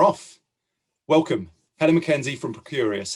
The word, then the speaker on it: Procurious: you do what you do at and i'll pronounce it correctly this time pro curious okay yeah thanks well i was somebody that